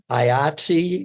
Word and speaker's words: IATSE: IATSE is it sounds like the dice game, Yahtzee.